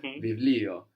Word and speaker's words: βιβλίο: Βιβλίο. Very good. Βιβλίο. Very good. It's written with the vita that looks like a P, but we pronounce a V there, no? Βιβλίο.